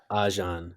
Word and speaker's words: Ajahn: Ajan. Yeah, that's like Ajahn.